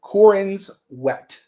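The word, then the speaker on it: Corenswet: So David, the guy who plays I'm not corniswith, how do you say his last name? Cororin sweat. Cororin's wet. Yes. Yeah. It's like wet.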